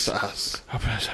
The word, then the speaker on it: psoas: trying to say it's it's all spell its psoas major muscle and that's that's definitely they know don't dumb it down for ya like that P is probably silent yeah so that's why I said so I thought it was